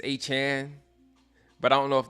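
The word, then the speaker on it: Aiyuk: I used to call him A-Chain. It's A-Chan.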